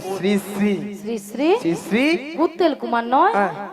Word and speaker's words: শ্রী: ছিড়ি ছিড়ি নয় বলো শ্রী শ্রী কি বলো শ্রী শ্রী সিড়ি সিড়ি সিড়ি সিড়ি সিড়ি সিড়ি সিড়ি